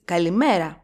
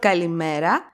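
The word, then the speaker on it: καλημέρα: we have three words the first word is kalimera it has four syllables when we pronounce the word kalimera we stress the second syllable from the last met so that's where we put the accent kalimera the second word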